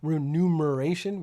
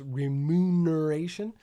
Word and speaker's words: remuneration: It's just part of my remuneration package, which is a word I have almost never said right until I learned how to say it and then realized I don't think anyone says it right because we usually say remuneration where it's remuneration.